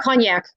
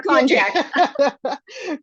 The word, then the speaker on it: konjac: So there's very few calories in konjac, and it's not cognac. Cognac would be that delicious brandy drink. We'll have a little cognac with our konjac.